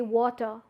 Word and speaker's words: water: being said that ah that ra is being not pronounced so you won't say water rather you say water water so that's how